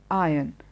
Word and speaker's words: iron: But remember, it is not iron, it is iron, iron. The R is not stressed. Iron, it's not iron. And the same applies when you are referring to the metal, and also when you are referring to the process of ironing your clothes. There is no R that is stressed there.